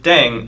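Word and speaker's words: 땡: playing with language now the pronunciation of deng is similar to thang which is the slang of thing in english last but not least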